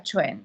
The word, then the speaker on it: Quan: Yo soy Quan, como ha dicho Enrique, pero en chino se pronuncia Chuen.